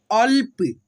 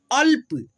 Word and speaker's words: अल्प: तो पढ़ेंगे अल्प, क्या पढ़ेंगे, ल प को साथ में, अल्प, ल को जो है ना हम लोग फास्टली पढ़ेंगे, अल्प, अन्न, ठीक है, अ